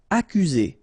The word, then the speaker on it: accuser: Accuser. You don't need to pronounce double C here, because normally we only pronounce this K.